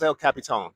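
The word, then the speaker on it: El Capitan: Yeah, it's El Capitone. It's the way you pronounce it.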